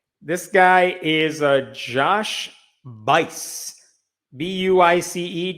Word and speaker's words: Buice: Buice, Josh Buice. That rhymes with lice.